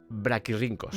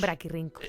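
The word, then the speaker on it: brachyrhynchos: Sí, pero en en latín cuando tienes una C y una H se pronuncia una K. Braquirincos. Braquirincos.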